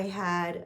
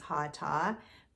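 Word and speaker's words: Hatha: And I'm I'm pronouncing it the American way, so correct me in the comments, but I I'm pretty sure that's not the way you pronounce it. I think it's Hata, but in the US, we pronounce it hot.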